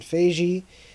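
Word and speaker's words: Feige: was a misunderstanding and it's just about Kevin Fei Jie so that's how you say his name for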